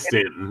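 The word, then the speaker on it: Staunton: spawn stanton stanton virginia it is stanton even though it looks like it's spelled it's spelled stoneton but it's stanton that's one of those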